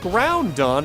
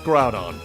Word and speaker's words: Groudon: I believe I always pronounce this Pokemon's name as Groudon. It's Groudon. There's no N. Well, there's an N, but there's no two N's. There's only the one.